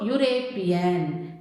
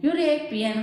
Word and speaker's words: European: So European, European, how you pronounce U? It gives the sound as Y-O-U, European.